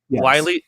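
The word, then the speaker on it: Wylie: them i have andrew wiley that's how you pronounce it right wiley yes uh andrew wiley who's sort of the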